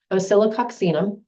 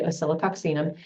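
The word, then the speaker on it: Oscillococcinum: three that I always keep in my house osilo oxum yes that is how it's pronounced I actually know how how to say osilo oxum this is for the flu and I have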